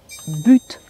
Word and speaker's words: but: cette habitude mais attention quand par exemple j'utilise le mot bu dans une phrase avec un mot qui suit et qui commence par une voyelle ou par un H mué là je vais le prononcer le T par exemple dans l'expression de but en blanc qui veut dire brusquement on le prononce le t en fait ce sont